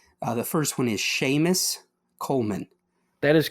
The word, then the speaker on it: Séamus Coleman: So how do you pronounce this name? The first one is Séamus Coleman.